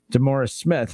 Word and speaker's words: DeMaurice Smith: description to describe NFL Players Association Executive Director DeMaurice Smith, if I'm saying his name wrong.